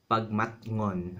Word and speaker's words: bagmatngon: This might make it difficult for you to pronounce, but if you say this syllable by syllable, it'll be easy. Bag mat ngon.